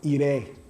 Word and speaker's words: iré: tense, which is yo iré. Yo iré a la fiesta. I will go to the party. So you just simply put the accent on the I at the end.